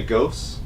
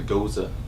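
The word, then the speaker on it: Gose: We say ghost, but I found out it's actually goza. Goza? That's how you pronounce it.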